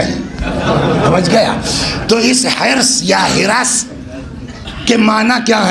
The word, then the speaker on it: حرص: تو جس کا پروناؤنسیشن جو ہے یا صحیح تلفظ کیا ہے, حرص. لکھنؤ جائیے گا تو یہ ہو جائے گا ہرس.